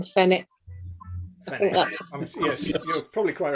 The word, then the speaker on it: Fenwick: I think W is silent in Fenwick.